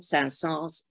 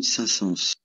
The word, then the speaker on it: Saint-Saëns: intellectuals often still use the traditional pronunciation without S at the end, but the pronunciation with S is now very common in French, even among radio announcers. Charles Camille Saint-Saëns.